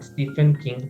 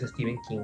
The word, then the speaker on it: Stephen King: Eh, bueno, quiero aclarar eso porque mi parte también como que ahí mi vocecita me dice, "La gente suele llamar Stephen King, pero realmente es Steven King, aunque se escribe PH es Steven King."